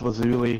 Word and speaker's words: Lazuli: When you keep pronouncing the wrong name. Isn't it Lazuli? It's Lazuli.